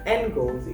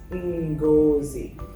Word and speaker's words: Ngozi: So it's spelled Ngozi, but it's not pronounced Ngozi, it's pronounced Ngozi.